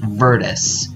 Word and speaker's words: Vrtis: Spelled V-R-T-I-S and pronounced Virtus, as if there was an E in the middle.